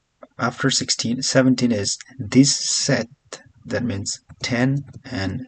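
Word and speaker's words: sept: Sis, seven is set. The P is silent here.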